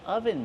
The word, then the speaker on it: oven: I'm wearing an oven mitt. This is an oven mitt. How do we pronounce oven mitt? Oven. Use the closed sound like up and cut.